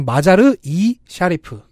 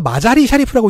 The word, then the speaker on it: 마자르 이 샤리프: 이 도시는 정확하게 마자르 이 샤리프. 두 단어 사이에 그 접사가 하나 딱 들어가는 형태입니다. 한글로는 마자르이라고 써 있어요. 줄여서 마자리 샤리프라고 읽는 사람도 있고요. 네. 혹은 마자르 엘 샤리프라고 표기될 때도 있는데 제가 볼 땐 이쪽이 맞는 것 같아요.